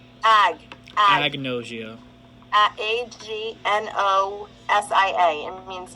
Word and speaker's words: agnosia: Apnosia. And Wait, then so it's pronounced apnosia, right? ag. Agnosia.